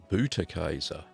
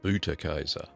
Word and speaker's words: Butterkäse: So remember, it's pronounced Butterkäse. That's Butterkäse. Well, as you can see, a very simple cheese to make.